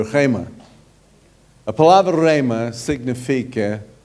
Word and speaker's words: rhema: A palavra é rema. Não é remer, como algumas pessoas pronunciam meu nome. Não é remer, é rema.